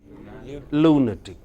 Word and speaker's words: lunatic: And how is it pronounced therefore? Lunatic.